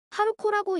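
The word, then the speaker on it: 春子: 춘자의 경우 하루코라고 읽습니다. 추는 하루자는 KO라고 읽는 것이 보편적이지요.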